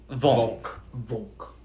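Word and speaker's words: волк: This is how I pronounce it. Volk. English is already hard enough. Volk, Volk. Oh. Volk. Is that how it's pronounced? Yes, Volk.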